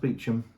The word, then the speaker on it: Beauchamp: the tomb of Thomas beum this is spelled spoal but it is pronounced beum even though it's spelt in the French way so in 1370 this